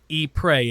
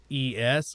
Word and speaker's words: Ypres: Ypres. It's spelled Ypres, which is Ypres, but it's Ypres.